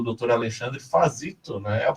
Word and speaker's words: Fazzito: Alexandre Fazito, né? A pronúncia tá certa?